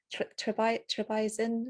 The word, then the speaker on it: Trebizond: Italy and the one when you go to Trebizond.